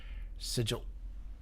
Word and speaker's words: Sigil: Sigil. Sorry, that's really funny that is the official the official American English pronunciation.